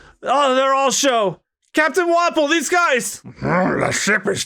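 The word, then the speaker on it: Wapol: Like, his name is pronounced Wapple. Think like waffle. Wappo.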